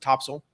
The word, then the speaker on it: Topsail: but i'm from north carolina so um we pronounced it topsail don't ask me why i think it's just